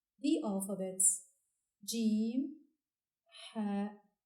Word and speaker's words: ح: So we say Ha, Ha. The seventh letter is pronounced Kha and is written from right to left on the line with a going down semicircle shape.